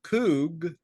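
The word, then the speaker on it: חוג: That's in the English language, but it's pronounced Kug.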